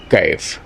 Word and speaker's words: কাইফ: র হিসেবে ক্যাটরিনা আর এখানে একালিফ টান হবে কায়েফ হ্যাঁ যাই হোক এইটা আপনারা খেয়াল করবেন তারপরে